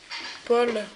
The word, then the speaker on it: Paul: Paul, on dit. Paul. Comme le pôle Nord.